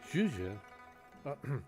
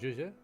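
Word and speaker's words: Zhezhi: When everybody else says her name, they say like Zhuzhe. When she says her own name, it's like she fades out as she's finishing that last syllable. Like you don't finish saying it.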